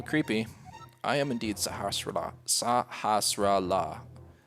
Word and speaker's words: Sahasrahla: Sahasrahla.